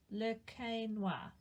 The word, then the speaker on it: Le Quesnoy: Its name is pronounced Le Quesnoy.